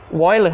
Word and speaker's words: Euler: Euler, né? Você não vai se escrever Euler, mas você vai ler Euler, ok?